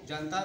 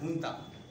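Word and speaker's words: junta: थी वहाँ बर्मा में, जिसको जनता नहीं बल्कि उसका प्रोनाउंसिएशन है हुंता।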